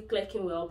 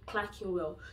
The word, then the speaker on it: Clerkenwell: You don't pronounce it as, I mean, because it's starting with Clerk. A lot of people say Clerkenwell, but it's actually Clerkenwell.